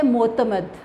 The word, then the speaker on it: معتمد: پہلا لفظ ہے معتمد. میم کے اوپر پیش ہے، عین کے اوپر جزم، تے کے اوپر زبر اور میم کے اوپر زبر ہے، دال کے اوپر جزم ہے.